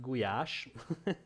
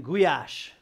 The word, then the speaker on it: goulash: It's actually pronounced goulash for those of you who want to know.